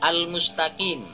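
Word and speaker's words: الْمُسْتَقِيمَ: hihihi Yoshiro forum mustaqim ada alif lam di al-mustaqim tidak boleh juga ada dengungan Ih alif lam tersebut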